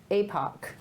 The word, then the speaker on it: APOC: So, APOC. Yeah. Is that how you pronounce it? Yeah. APOC, right?